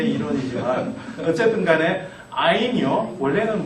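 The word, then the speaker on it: ע: 아인. 아인. 그러니까 뭐 여러분이 발음을 하실 때 뭐 이러실 필요는 없습니다.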